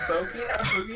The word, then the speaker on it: bogey: Boogie. Are you serious? Why does this happen to me? Whoop! Double bogey. I was bogey.